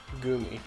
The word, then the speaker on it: Goomy: Goomy? Gooey? Goomy.